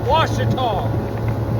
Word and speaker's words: Ouachita: It is Ouachita. It is a French word. Well, I take it back. It's an Indian word based off a good hunting ground, and then it's spelled by the French with an O-U instead of a W.